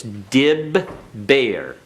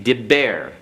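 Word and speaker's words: דבר: And this baith is doubled. We'll have to explain that later. It's dib bear. Okay, diber.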